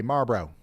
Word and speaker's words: Marlboro: Or is it literally Marlboro? I know if that was from around here, we'd say Marorrow. Marorrow.